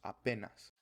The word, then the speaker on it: apenas: Also apenas or apenas. The stress is different. And apenas or apenao is the Esperanto word which means the exact same thing, but in Spanish it's apenas.